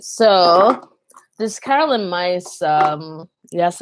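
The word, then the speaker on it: Myss: All right, so this Carolyn Mice, yes, it's pronounced mice, not miss.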